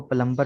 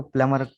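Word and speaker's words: plumber: ठीक है, ये बी साइलेंट है, लेकिन हमारे यहाँ इसको प्लम्बर ही कहा जाता है और प्लम्बर ही लिखा जाता है, लेकिन अंग्रेज इसको प्लमर कहते हैं, बी साइलेंट है।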